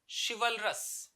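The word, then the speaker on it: chivalry: है यह है आपका शिवलखा सी एच आई है ये श जैसे प्रोनाउंस होगा इसे ची नहीं बोलेंगे चिवल्री शिवलखा फीमेल के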